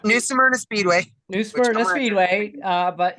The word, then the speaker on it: New Smyrna: It's new Smyrna Speedway.